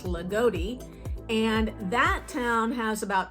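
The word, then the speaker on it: Loogootee: it's more like I always thought it was lugou but it's Lotti and that town has about 2600 people in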